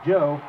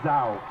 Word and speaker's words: Joe: It is pronounced Joe, not Zhao.